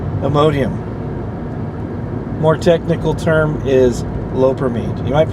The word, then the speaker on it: loperamide: More technical term is loperamide. You might pronounce it lopramide.